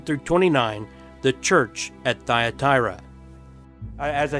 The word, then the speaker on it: Thyatira: Thyatira that's if you didn't know how to pronounce that Thyatira and will begin in verse 18 where it